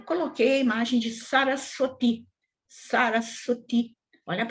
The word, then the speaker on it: Saraswati: Saraswati, Saraswati, Saraswati, e não Sarasvati, ou Sarasvati, como a gente ouve às vezes aí algumas pessoas falarem, né? Sarasvati, errada a pronúncia.